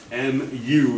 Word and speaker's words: mu: weird greek letter is is the greek letter mu mu m u is how you pronounce it mu so coefficient of friction i